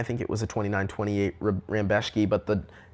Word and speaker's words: Rebecki: Mateusz Rambecki. Looks like Rebecki, of course. It isn't Rebecki.